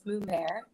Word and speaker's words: Mummert: No, it's kind of weird because people always say my last name wrong, but it's Mummert.